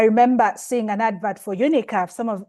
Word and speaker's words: UNICAF: seeing an advert for UNICAF. Some of it's sometimes we pronounce it as UNISAP and I'm like, "Okay, let me check these guys out."